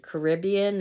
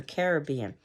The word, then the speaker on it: Caribbean: harassment or a harassment is it Caribbean or Caribbean so if you know foreign